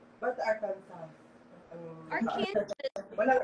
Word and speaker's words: Arkansas: How to pronounce? Walang S? Ba't Arkansas? Arkansas. Walang S. Ay, may S talaga siya. Walang S na. Arkansas.